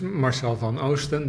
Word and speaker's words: Marsel van Oosten: Okay, so my name is Marsel van Oosten. That's how you pronounce it.